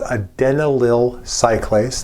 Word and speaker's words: adenylyl cyclase: Nearby the G protein is a membrane embedded enzyme, not a receptor, but an enzyme that's called adenylyl cyclase. That is actually the correct pronunciation.